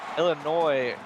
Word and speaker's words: Illinois: the 5y catch there Illinois in the building shout out to them yeah you got to remember that s is silent I know Frosty always